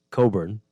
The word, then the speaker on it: Cockburn: It's Cockburn in San Salvador. They don't pronounce it like that. It's Coburn. Well, there you go. Yeah. Coburn.